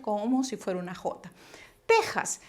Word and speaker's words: Texas: si fuera una jota texas se escribe con equis pero se pronuncia como si fuera una jota vale si alguien por